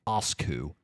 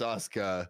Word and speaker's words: Asuka: There's no fucking way you're telling me this person's name is pronounced Asku. It's Asuka.